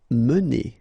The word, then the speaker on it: mener: Mener. Okay, so remember when you get this E like that without any accent, so it should be pronounced E. Okay, so it goes like mener.